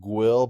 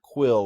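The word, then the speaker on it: Guill: now i should mention the guy's name is actually pronounced will but i thought he was way too creepy to be named anything other than mr quill like on doctor who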